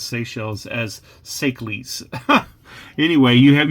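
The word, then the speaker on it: Seychelles: lot of stuff so instead of pronouncing this in the obvious way sells I used to call this sees because I also liked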